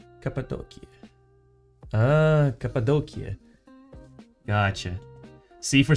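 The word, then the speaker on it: Cappadocia: See, for some reason, the way they write it in English specifically, at least on Google Maps, it's spelled as C A P A D O C I A. And so it sounds like an for some reason an Italian word to me.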